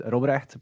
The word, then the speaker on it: Robrecht: My full name is Robrecht, but nobody can pronounce that, so most people just call me Rob.